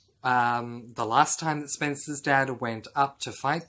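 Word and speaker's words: Spensa: interesting point about that i thought her name was spencer but it's not it is spelled s-p-e-n-s-a so it is spencer in this case so spencer is a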